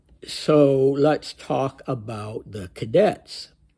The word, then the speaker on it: Kadets: puts it well so let's talk about the cadetes it's spelled just like the English word Cadet except